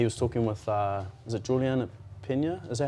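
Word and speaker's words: Julianna Peña: He was, he was talking with, is it Juliana Pena? Is that how you say it? Bobs? Is it Julianne Pena? Oh, Juliana.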